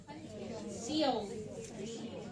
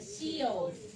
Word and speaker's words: Sheol: Sheol. Yun ang pronunciation niya, Sheol.